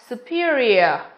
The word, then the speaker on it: superior: Chỉ riêng từ A của chúng ta phát âm là superior, ear, đúng không?